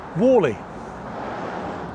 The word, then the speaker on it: Whalley: lukewarm but sunny day here we are in Wallally now spelled wh a w e y wally but it's pronounced Walle up from Charlie Beach anyway let's have a